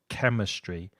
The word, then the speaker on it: chemistry: your physics biology chemistry be careful of the pronunciation of that hard C at the beginning of chemistry and also the fur of physics geography history it Information